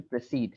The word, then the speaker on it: proceed: to proceed here uh can you tell me in proceed what syllable we are stressing what part e double e d very good proceed so o again becomes a proceed not proceed but proceed proceeding yeah so authorities